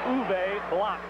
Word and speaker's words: Uwe Block: The pronunciation is Uwe Block, as in mop.